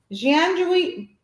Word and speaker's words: Gianduiotti: Oh, Jianjuoti. Oh boy. Well, you say it. It's Gianduiotti. You pronounce that.